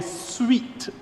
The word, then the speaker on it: suite: We have included this measure because it is part of a suite of measures. And I use the word, I know it's spelled S-U-I-T-E, but the measures are SWEET, S-W-E-T.